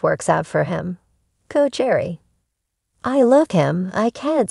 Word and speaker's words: Gerry: first first golden Bachelor Jerry pronounced like Gary 71 is a sheltered